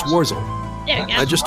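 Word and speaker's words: Worzel: Warzil. How do you pronounce the last name? I don't believe I've introduced myself yet. My name is Warzel.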